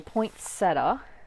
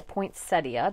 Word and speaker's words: poinsettia: use i'm going to use the poinsettia or poinsettia depending on which way you like to pronounce it and this one you